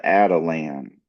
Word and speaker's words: Atalan: Also brought to you by Voices for Voices Publishing is the comic book, The Adelan. So that is spelled A T A L A N.